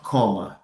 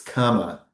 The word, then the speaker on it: comma: But it's not comma, it's comma.